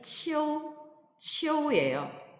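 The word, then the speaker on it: 秋: 두 번째 예로서 가을 추는 발음이 치오우예요. 치오우는 설면음의 치와 아이오유의 결합인데요. 이 역시 아이오유가 성모와 결합을 하면 자동적으로 오가 탈락이 되고 탈락이 되지만 발음은 약화된 채로 남아있어서 치오 이렇게 발음돼요.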